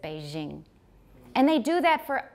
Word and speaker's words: Beijing: So when we say a J, they said Beijing.